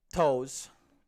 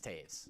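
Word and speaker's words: Toews: patrick kane and jonathan toes his name is taves by the way i know his name is taves it's spelt toes and i [ __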